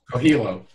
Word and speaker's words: Coelho: Coelho.